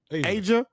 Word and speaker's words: Ajia: Song of the week is how you pronounce this, Ron? I want to make sure I say it right. Asia.